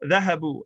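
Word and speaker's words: ذهبوا: And so in order to avoid resembling other types of words, which is big in Arabic, it has an alif as a placeholder that's not pronounced. So dhahabu.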